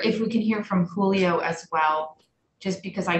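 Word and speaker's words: Giglio: the constitutional standard under gillio that's how it's pronounced julio um is that um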